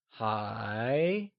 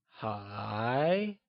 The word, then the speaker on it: 还: Still translates to 还. and is pronounced using a mid-rising tone, or the second tone. Can you try and say hi? It is said with a mid-rising tone, like hi.